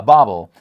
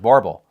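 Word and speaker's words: bauble: I looked this up, and apparently I am not wrong. Let me just say, I looked it up, and there are two pronunciations.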